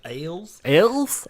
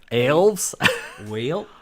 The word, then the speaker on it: Aelves: It's just the A is silent.